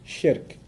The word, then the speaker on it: shirk: S-H-I-R-K. Sounds like Shrek, so that's easy to remember, right?